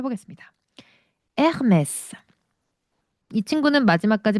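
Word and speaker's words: Hermès: 프랑스는 H는 묵음입니다. 어, H는 그냥 안 보인다라고 생각하셔야 돼요. 아예 발음이 없어. 아예. 그래서 유명한 거 있잖아요. 그 유명한 브랜드 에르메스를. 에르메스는 에이트를 시작하는 거죠.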